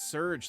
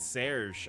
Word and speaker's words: Surge: Oh, it's Surge, like Power Surge. I've been pronouncing it as Lieutenant Serge all this time.